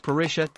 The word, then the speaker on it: parrilla: The place to enjoy a beautifully prepared steak is at one of the many steakhouses, called parrillas, pronounced parrilla in the Argentinian dialect.